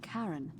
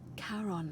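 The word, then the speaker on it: Charon: is a little off the name you heard wasn't karen it was c-h-a-r-o oh as in caron yep the fairy tale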